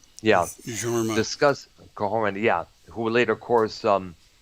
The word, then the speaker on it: Jorma: Fest began when he and our lead guitarist Norma Calhoun, I think his name is Yeah. pronounced. Yeah, Jorma.